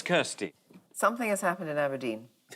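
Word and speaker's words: abrdn: life aberdeen has rebranded it's now called abdomen it's like no it's still pronounced aberdeen stephen bird uh is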